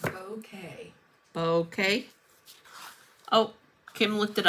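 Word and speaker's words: Bowkay: It's pronounced bouquet. Bouquet. Oh, Kim looked it up. Bouquet. Bouquet. Bouquet. Okay. Like a bouquet, but just with a bow.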